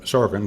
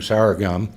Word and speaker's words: sorghum: percent tariff on sorghum we at least got the president to understand how to pronounce sorghum he was saying sorry hyung and so we got